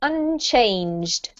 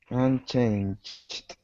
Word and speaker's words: unchanged: yeah and this one try not to make the Ed into an extra syllable right so it's unchanged unchanged yes that's better I